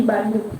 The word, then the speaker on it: Bandung: o e n g yang kalau kita baca Emang o e itu dibacanya u kalau dari bahasa Belandanya jadi Bandung tapi karena bahasa Indonesia